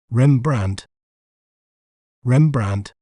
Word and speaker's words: Rembrandt: may pronounce it as rembrand rembrand REM brand the letter D is silent rembrand rembrand vanen is